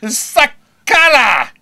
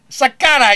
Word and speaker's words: Sakara: Alessio Sakala. Sakara, UFC 101. Say it right, Bo.